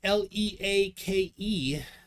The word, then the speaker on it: Leake: Max Mac says pronounced leak.